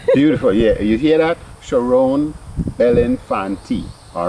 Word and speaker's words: Cherone Bellinfantie: And I'm talking to the lovely Cherone Bellinfantie. Yes. I did pronounce it well. Yeah. Beautiful. Yeah. You hear that? Cherone Bellinfantie.